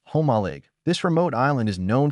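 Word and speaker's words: Jomalig: Jolig Island, Quesan Province, pronounced homaleig.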